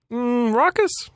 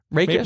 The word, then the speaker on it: rakish: How do you pronounce it? Rakish? Rakish charm? Is that what you're saying? Rawkish. I don't know if that's a word. Well, it turns out I was spelling it wrong. It is R-A-K-I-S-H.